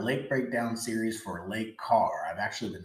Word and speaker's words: Kerr: breakdown series for Lake Carr I've actually been saying it wrong this whole entire time finally someone let me know in the comment wrong so it's late car or bugs Island so I'll make